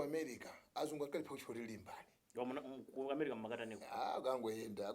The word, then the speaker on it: Limbani: azungu anakupatsani amatana azungu amaipa panga pronunciation ya Limbani. Namati Lambani. Here come here Lambani. Lambani, how you doing? So another do. Sina kumaliti? Sizija. Azungu kulephera kupanga pronounce Limbani ndakachira Lambani. So ifoti zachokera kwa azungu mwati nde zenezene.